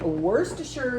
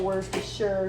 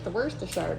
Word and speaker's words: Worcestershire: Then we're going to have Worcestershire sauce. Hello, Worcestershire sauce. I don't know why people don't know how to say that. They're always like, Worcestershire.